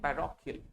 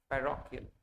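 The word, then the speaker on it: parochial: सही प्रोनाउंसिएशन बहुत ज्यादा जरूरी है। देखो पैरो, और इसे शीलना पड़ेगा, केल। क्या है? केल, यानी पैरोकियल। क्या है? पैरोकियल। क्या पढ़ेंगे इसे? पैरोकियल।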